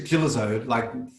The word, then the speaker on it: Gillezeau: Gillezeau, Gillezeau with a yeah, that's it, G. French.